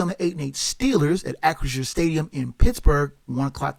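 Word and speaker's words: Acrisure: the 8-8 Steelers at acresure stadium in Pittsburgh one o'clock kickoff on CBS know that I finally got the name of the pronunciation of the stadium right it's accuracia the Steelers are three-point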